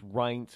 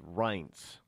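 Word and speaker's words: Reince: I got it I got how you it's RS it's not Rin it's R I get it yes I understood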